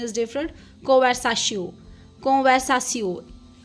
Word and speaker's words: conversation: वो फ्रेंच में भी सेम है बट the pronunciation is different कोवसाशिस कोवसासियो टी आई ओ N this is स इंग्लिश